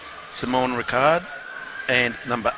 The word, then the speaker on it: Simon: I think Simon Ricard, or Richard, depending on how you pronounce it. It's interesting because obviously he's from the French side, so it is actually Simon.